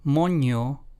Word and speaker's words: moño: The two words in Spanish moño versus mono. Let's hear those two again. Moño versus mono. The first one translates to bun in English while the second one translates to monkey in English.